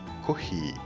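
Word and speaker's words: コーヒー: Ils sertent à écrire les noms prénoms de personnes étrangères ou des mots venant de l'étranger comme taxi ou café qui se prononceront taki et kohi.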